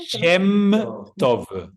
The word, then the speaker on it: Shem Tov: Shektom, ¿cómo pronunciaste? Shem Tov.